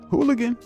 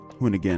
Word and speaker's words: Hoonigan: Hooligan? Not hooligan. Hoonigan.